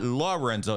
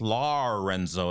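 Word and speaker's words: Larynzo: said it's lorenzo and it's it's not lorenzo it's larenzo it's spelled a i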